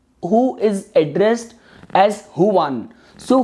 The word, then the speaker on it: Juan: So even in those kind of circumstances, for someone like who is addressed as Huan, so Huan, you might spell your name as Juan, but it is pronounced as Huan.